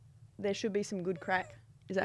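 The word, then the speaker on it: craic: i don't know what what the crack it's spelt c-r-a-i-c and it means it just means like good one good we'll have a laugh yeah well can we not pronounce that as crack that's what it is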